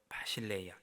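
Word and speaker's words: βασιλεία: 바를 신뢰 뭐 이렇게 부르죠 히브리어는 말코트 헬라어로는 바실레이아 이렇게 나라 천국 하나님 나라 때 나라를 발음을 합니다 근데이 나라는 단순히 어떤 지형적인 정치적인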